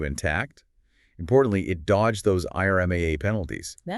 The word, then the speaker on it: IRMAA: Worried about IRMA. You know those Medicare search charges. Pronounced Irma, right?